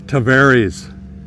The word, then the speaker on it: Tavares: found out we learned we learned the proper way to say the name of this little town which is the seaplane capital of the world it's tavares that's right who knew they